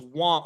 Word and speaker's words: Wang: It's Wong. Okay, do we have the correct pronunciation for Jameson's last name? Yeah. Because I'm hearing a bunch. It's spelled W-A-N-G, which would read Wang, but we're hearing Wong.